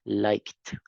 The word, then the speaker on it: liked: Esa es un poquito engañosa porque solo pronunciamos la T. Liked.